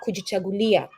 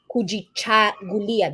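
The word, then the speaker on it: Kujichagulia: such then you have kuji chulia and it's pronounced kui chaia that sound in kahili is cha not ka there's the sound K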